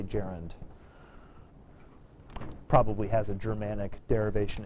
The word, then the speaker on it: gerund: quite sure why but it's jarand not gun or gur uh or any sort of fancy French pronunciation you should be American and uncouth and say Jaren probably has a Germanic